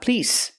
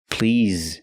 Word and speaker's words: please: juice no ice please remember please not please please use the vibration sound Z with the word please again I'd like a